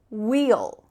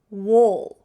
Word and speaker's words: we'll: For example, you could say wheel, wheel. Or you could use the lazy, relaxed style, wool, wool. There's really no action or movement happening in your mouth, just wool. Not wheel, that's the clear pronunciation, wheel.